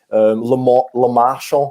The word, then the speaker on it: Lemarchand: Lemarchand, I don't know if I've pronounced that right.